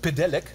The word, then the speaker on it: Pedelec: Aber die richtige Aussprache ist Pedelec.